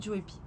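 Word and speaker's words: Joepii: Maintenant on va en arriver à la troisième plante qui est le philodendron Joy Pie comme vous préférez, mais voilà on va le prononcer à la française, c'est Joy Pie.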